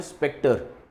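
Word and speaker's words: spectre: का प्रोनाउंसिएशन है स्पेक्टर।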